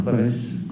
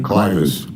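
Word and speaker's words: clivus: Were you a presenter in fractures of the clevis clinical and radiographic features? Yes. Am I pronouncing that correctly? Clifus.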